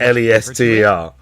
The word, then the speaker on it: Leicester: is not it's not pronounced. It's not spelled Lester, but that's how you say it.